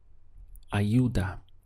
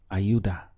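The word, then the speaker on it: ayuda: help in Spanish is Auda so we have I youa Auda in fact in some countries you'll hear this more like a j they'll pronounce it as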